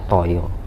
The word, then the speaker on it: Taya: ngih sangang Taya lah Taya itu artinya tay to Toyo kan tay Bah Jawa bacanya Toyo I th I arti